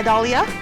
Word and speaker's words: Dahlia: My name has a silent H in it? Yeah, Dahlia? It's after the A and before the Leah.